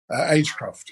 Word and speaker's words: Agecroft: There is talk, or at least was talk, of a stadium at that colliery, and I'm going to pronounce it horribly, but Agecroft? Agecroft, yeah.